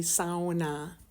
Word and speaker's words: sauna: up taking family SAS that's right people that's how you pronounce the word properly SAA my dad was from